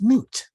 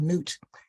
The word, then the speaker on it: Nut: The Egyptians felt that the Creator was a woman, and the woman of the universe, her name is Nut, pronounced NWT.